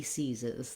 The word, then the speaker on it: seize: So for example, size 5, he seizes. That's going to help you remember those vowels and use them correctly. Interestingly, this seize is pronounced the same as this sees. Again, spelled differently, but the same sound.